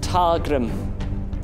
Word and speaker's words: Ptargrim: I, Ptargrim, with a silent P, the Great, vow to avenge thee.